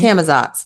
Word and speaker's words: Camazotz: I can't wait for volume 2, specifically for Escape from Camazotz. Is that how you say it? I can never remember. Yep. Camazotz.